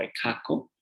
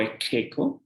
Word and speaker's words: Ekeko: Y finalmente, bueno, actualmente no se lo conoce tanto como Tunupa, sino como Ekaco o Ekeko, ¿no? En la pronunciación actual, que tiene inclusive una feria en su honor, la Feria de Alacitas, ¿no?